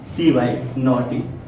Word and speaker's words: naughty: ठीक, ए यू को हमने क्या पढ़ लिया? आ। ठीक, और ये क्या हो गया? ये दोनों साइलेंट है, आपको पता ही है, ये दोनों क्या है? साइलेंट है। ठीक, या आप ये भी कह सकते हैं ए यू के बाद जी एच दिखे तो क्या होता है? साइलेंट होता है।